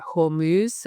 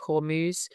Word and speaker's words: Hormuz: going through the Strait of I think it's pronounced Hormuz. I'm not sure of the pronunciation. I should have listened to that before I did this, but anyway, the Strait of Hormuz.